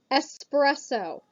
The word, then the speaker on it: espresso: Espresso. Espresso. There's no X. First, it is pronounced espresso, not espresso, espresso. There's no X.